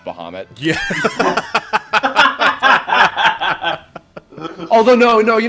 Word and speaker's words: Bahamut: one who finally canonically confirmed that Bahamut is pronounced Bahamut yeah oh no no you know what I'm